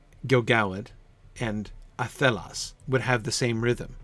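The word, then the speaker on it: athelas: If, Catriona, we were to pronounce the word athelos, the shape of the word athelos would be an intrinsically iambic shape.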